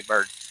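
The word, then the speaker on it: Byrd: telephone ring by Tracy bird beautiful song it's kind of traditional country but if anybody else is listening goes to YouTube to look for it it's spelled b-y-r-d is his last name b-y-r-d bird you know but after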